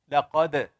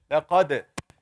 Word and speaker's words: لقد: Shake the makhraj of the dal. Right here, we're focusing on the dal. How do we say it right? لقد. What did I do? I shook the dal. لقد.